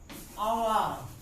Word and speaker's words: hour: He has wasted dash hour.